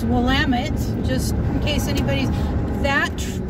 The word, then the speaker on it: Willamette: in the Willamette Valley not the Willamette II like I've heard it pronounced its Willamette just in case anybody's